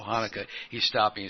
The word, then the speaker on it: Hanukkah: what is the proper way to say it Hanukkah nicaya haouka right that's the way I have heard it yeah he can't do the hood then hanok Chanukah is fine Hanukkah yeah I'm gonna be announced